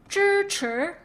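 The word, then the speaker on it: 支持: And this one is what? Like chirp. Right before the R, you stop. Like chir, right? Chir. 支持支持 means support.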